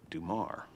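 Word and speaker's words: Dummar: even to the point where his name is spelled D M M A R and but he pronounces it Dumar like like it's French Melvin Dumar that's how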